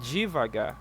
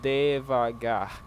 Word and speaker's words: devagar: So, in some parts of Brazil, they might pronounce this di- divagar like it was letter I here. But originally, it is devagar.